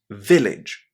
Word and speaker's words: village: endings in English, when you see AGE at the end of a word, and it's an unstressed syllable, which is practically always the case, you always say these last three letters as idge in English.